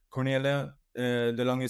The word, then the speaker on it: Cornelia de Lange: And well, today's topic is and correct me if I will pronounce this wrong. Cornelia de Lange syndrome, is that correct?